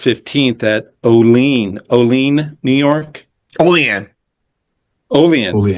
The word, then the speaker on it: Olean: Olean. That's how they say it.